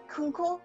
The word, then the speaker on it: Kunkle: to go so kate kunkel is is am i pronouncing that right uncle kunkel like uncle with a k okay kate kunkel is